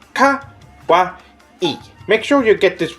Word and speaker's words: kawaii: saying this word wrong it is not pronounced Kawai it is pronounced Kawa e make sure you get